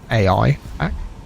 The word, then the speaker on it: AIPAC: It's spelled A I PAC. It's pronounced AIPAC.